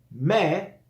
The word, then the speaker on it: mais: Mais mais la no se prononca mais y es una e abierta.